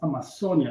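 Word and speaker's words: Amazonía: South America is now Amazonas. In English, pronounced Amazon. How we pronounce it in there is Amazonia, not any of the other two.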